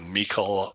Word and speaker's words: Michel: So if you have a Stanley Gibbons digital catalog or a Michael or a Michel, depending on how you pronounce that and which country you're in, or you have a Scott catalog that's digital.